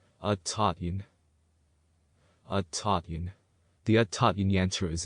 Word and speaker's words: Aaiyyan: This is the whole yantra, and it is pronounced Aaiyyan.